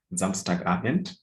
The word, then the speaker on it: Samstagabend: Okay, so it's Samstagabend. So pronounce it as one word, not Samstagabend. So the moment you put a pause, then those are 2 words, not 1 word.